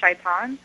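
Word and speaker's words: شيطان: Satan um there's actually we have the same word in Arabic um as in Hebrew but it's pronounced shaan and um it uh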